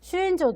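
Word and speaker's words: 朱印状: 그래서 슈인조, 그러니까 아까 얘기했던 주인장이에요. 주인장이라고 이제 한자 발음으로 읽으면 주인장이고 일본어 발음으로 읽으면 슈인조라고 하는데 이걸 줘서 이제 계속해서 선교를 할 수 있게끔은 암맘리에는 인정을 한다라는 거죠.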